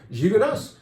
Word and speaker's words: Gigondas: Gigondas. Some people will say, no, you don't say the S at the end, it's French. You do down there.